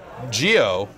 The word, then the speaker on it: Geo: Geo shook. Geo couldn't do it. Geo couldn't Yeah. take the heat emanating from the Video James character. It's a soft G that's coming here correct on this couch.